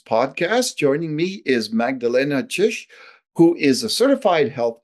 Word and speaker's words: Czyz: today on Calgary's podcast joining me is Magdalena chish who is a certified health coach and a